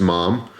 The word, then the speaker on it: MAM: Portugal this is a mom knife it's spelled ma a.m. but I watched a video from the owner who pronounced it mom so we'll go with that got this from another